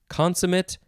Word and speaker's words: consummate: the adult side uh you could also pronounce it consemate no consemit consemit that's how people say it consum it maybe it's consummate but still i've never heard that consummate there we go it's consummate because this is the first